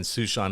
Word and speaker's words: Suesean: And Susean is spelled Suesean, like the name Sue and the name Sean, but put together.